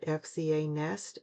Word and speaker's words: FZANEST: You pronounce it FZANEST gel polishes.